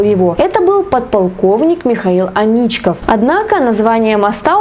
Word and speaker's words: Аничков: это был подполковник михаил анечка однако название моста у петербуржцев связывается исключительно с историей трагической любви некой анечки и ударение в названии соответствующие на а они на и прогулка по набережной реки